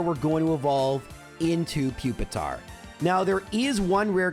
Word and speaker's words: Pupitar: I know it's pronounced Pupitar, but it's fun to say Pupitar.